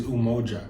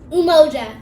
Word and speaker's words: umoja: meaning for that the actual swahili word is umoja exactly so it's and that represents unity and